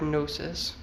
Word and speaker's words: gnosis: In the absolute form, independent of personality, the G is a silent letter, as in our word gnosis, and the sound GN